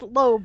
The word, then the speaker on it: Lobi: And then then Sir Gordon ends up saying saying it's pronounced lobe, but the I is silent.